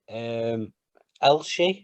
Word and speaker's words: Elche: Elche, I believe it's pronounced.